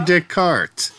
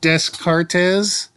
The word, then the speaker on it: Descartes: is yeah that's Rene Descartes who was desc Cortez in the first episode of the reading but French is interesting because they don't pronounce all their letters this is the new